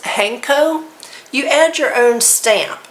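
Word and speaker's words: 判子: and you also which I believe it's pronounced hanko you add your own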